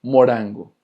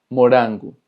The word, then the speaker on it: morango: Pero cuando la R está en medio de dos vocales, se va a pronunciar exactamente igual que en español, como una R. Por ejemplo, morango, morango, que es fresa.